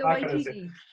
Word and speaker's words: Waititi: Taika Waititi is just I'll let you pronounce it. I'm not even going to try that one. Sorry. Well, Taika Waititi.